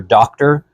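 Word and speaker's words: Docter: The original director, I want to say Peter Doctor. His name's spelled like doctor, but isn't quite like that.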